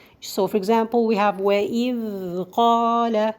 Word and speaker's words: وَإِذْ قَالَ: This is the correct way I did now. The wrong way is today to say it like وَإِذْ قَالَ. وَإِذْ. No. Why did she do that? Because she didn't leave the time for the dal to run.